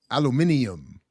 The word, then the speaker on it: aluminium: uh yeah boite Alum Alum how did the British say it uh aluminium I like how the Brits I do like